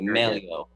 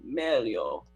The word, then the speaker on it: Meglio: You're pronouncing the traditional Italian way, Meglio. All my voice teachers, they tell me Meglio, like opera singer.